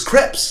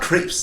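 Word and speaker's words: crêpes: it scripts correct crepes it's crepes it's not crepes that this is a common mispronunciation what are you a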